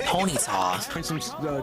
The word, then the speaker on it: Ponyta: always pronounced it as Ponyta divorce you know groups and stuff you I've always understood it's supposed to be a pun on Bonita but the show always